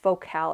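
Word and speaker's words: Focal: listen to I believe the brand is pronounced vocal it's f o c a l went in for an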